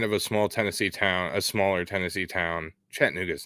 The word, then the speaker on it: Chattanooga: It's Chattanooga, but you're close. Well, I try. We all know that I make mispronunciations with shit all the time. So, yeah, kind of a smaller Tennessee town. Chattanooga's not, but the area is kind of a